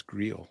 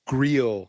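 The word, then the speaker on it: Greil: one and it was an excellent satire of Grill sty well done thank you and thank you Tim and also I found out his name is greel yeah that's why I sort of pronounced it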